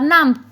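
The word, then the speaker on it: numb: hands and feet are नाम my hands and feet are नाम सो जाना ना को नाम के तौर पर प्रोनाउंस करेंगे क्योंकि साइलेंट बी होता है अपने जिस्म को हरकत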